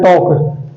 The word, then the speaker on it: talk: फिर वर्ब की first form, verb क्या है, बात करना, बात करने को हम बोलते हैं टॉक, TALK, यल हमारा साइलेंट होता है, हम बोलते हैं टॉक।